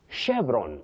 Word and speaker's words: chevron: You say chevron, chevron, not chevron. This word, you pronounce it as chevron. Avoid saying chevron.